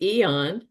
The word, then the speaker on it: AEON: Kind of a silver bullet that I've used is using the Eon, that's spelled AEON, which is for pain,